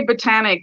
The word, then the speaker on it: Botanique: we call it here we say botanic because i just think um the the sort of more you know french pronunciation or or what we'll say a bit poshy pronunciation never really took off here it was um probably the australian way of just um the way it said it so we're just stuck with it it's fine it can